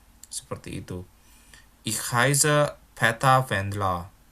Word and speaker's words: Wendler: Ich heiße Peter Wendler. Ingat ya, cara baca ER kalau di belakang suatu kata itu kayak A ya, seperti itu ya.